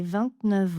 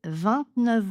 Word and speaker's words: vingt-neuf: Et c'était donc une liaison en V. Sa sœur faite ses 29 ans. 29 ans. Même chose liaison en V. J'ai invité 29 autres personnes. 29 autres personnes. Même chose. Nous sommes à 29h du départ. Nous sommes à 29h du départ. Ici, j'enchaîne avec mon F.